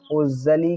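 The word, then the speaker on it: usually: यू एस यू A double एलवाई पढ़ेंगे हम उजली क्या पढ़ेंगे उजली सो हमने यहां पर उजली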